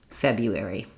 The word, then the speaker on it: February: to say them quickly, you can practice just the unstressed parts and again try going slow and then speeding up, like you-air-ee, you-air-ee, you-air-ee, February.